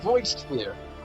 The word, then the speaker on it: Voidsphere: That's how it's pronounced, Voidsphere.